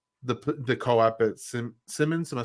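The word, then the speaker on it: Siemens: then even Landing the the co-op at sim Simmons am I saying it right Seaman Seamans sorry Seamans and and then just like do you feel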